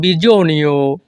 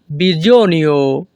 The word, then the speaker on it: bisogno: প্রয়োজন নেই non bisogno। এখানে SO এর উচ্চারণ হবে জো। যখনই আমরা ইতালিয়ান ভাষায় কাউকে বলতে চাইব প্রয়োজন নেই, তখন আমাদেরকে বলতে হবে non bisogno।